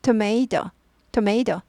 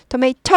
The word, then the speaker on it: tomato: 토마토 토메이 토메이 토메이터 하지 않고 이건 약화돼요. 앞 발음 나고요. 뒤에 건 토메이토에서 토메이토까지 약화돼요.